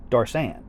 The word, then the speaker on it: Doris Ann: Of course, I'm over-pronouncing the Doris for your sake. Everybody pretty much pronounces it Darsan.